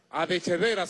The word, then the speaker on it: Adechedera: Adechedera, se escribe así. Hay un apellido que es Arrechedera. Este no es Arreche, este es Adeche.